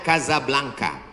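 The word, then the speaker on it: Casablanca: Hasan dua di Kota Kasablanka Hai ibukota Maroko tempat saya kuliah nama negaranya Maroko ibukotanya tulisannya casablangca cara bacanya Kadzab langka Kaza artinya rumah Blanca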